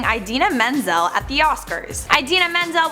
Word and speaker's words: Idina Menzel: number four we have John trola Miss pronouncing idena Menzel at the Oscars Idina menel was set to perform Let it go at the Oscars in 2014 for whatever reason John Travolta called Idina Menzel Adele daim when he was introducing her he got a